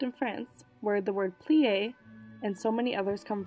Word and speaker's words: plié: Plie.